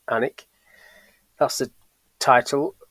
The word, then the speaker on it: Alnwick: Although a lot of people will look at that and think it's Alnwick, it's pronounced Alnwick.